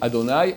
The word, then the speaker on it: Adonai: J'ai dit Ado et puis Nai, mais ça se dit en un mot. Par exemple, Adonai, Imloch Amvaed, d'accord?